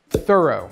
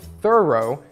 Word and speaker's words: thorough: Thorough. Тщательный, доскональный. If you are thorough, you are very careful with great attention to detail. Кстати, тут в произношении есть два варианта. Америкашки говорят thorough, а бриташки thorough. Правильное американское произношение я могу вам дать.